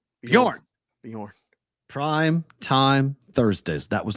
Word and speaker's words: Bjorn: It's the J is silent, right? It's Bjorn. Bjorn.